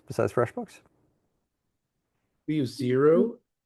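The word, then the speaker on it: Xero: We use Zero. How do you spell that? X E R O Zero.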